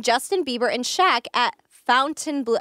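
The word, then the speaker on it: Fontainebleau: Bieber and Shaq at Fountain Blue how do you say that Fountain Fountain Blue Blue Fountain Blue oh you don't say it like in a French way I guess you could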